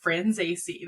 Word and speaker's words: Franzese: I'm gonna give Haley credit for that, because I was like, Haley, how do you pronounce his last name? And they were like, Franzese.